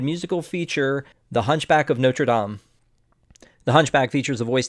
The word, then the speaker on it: Notre Dame: So the first one is Notre Dame or Notre Dame? The correct pronunciation in French is Notre Dame. Okay. So Notre Dame is what they call the football team.